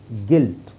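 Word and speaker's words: guilt: colleague ಮತ್ತೆ ಇಲ್ಲಿ ನೋಡಿ ಯು ಸೈಲೆಂಟ್ ಆಗಿರುತ್ತೆ ಜಿಎ ಆರ್ ಡಿ ಹೇಳಿದ್ರೆ ಸಾಕು ಗಾಡ್ ಗಾಡ್ ಆಮೇಲೆ ಇಲ್ಲಿ ಇಲ್ಲೂ ಯು ಸೈಲೆಂಟ್ ಆಗಿರುತ್ತೆ ಐ ಸೌಂಡ್ ಮಾತ್ರ ಹೇಳಿದ್ರೆ ಸಾಕು ಗಿಲ್ಟ್ ಗ ಇಲ್ಟ್ ಗಿಲ್ಟ್ ನೆಕ್ಸ್ಟ್ ಇಲ್ಲಿ ಯು ಸೈಲೆಂಟ್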